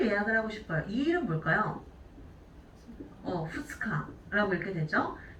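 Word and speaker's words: 二日: 후츠카라고 읽게 되죠. 자, 그럼 우리 3일은 뭐라고 하죠? 밑가라고 읽게 되죠.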